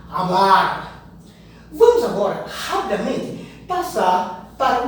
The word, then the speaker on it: hablar: O espanhol diz hablar e não hablar. Hablar.